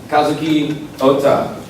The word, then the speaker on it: Kazuki Ohta: All right, so this last session here is with Kazuki Ohta. Yes, you pronounced Pretty perfect.